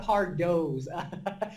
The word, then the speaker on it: Pardot: How do I pronounce it? Look, I get a lot of ParDots. It's ParDot.